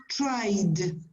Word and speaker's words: tried: so try e e then you have to put a how do you pronounce it like a d so the pronunciation is tried can you do it